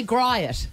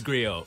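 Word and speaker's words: griot: it Grio I want to say G it it it is Grio many many times people have just said G it and I'm like that that's not it um just uh it's just G with a silent what does it mean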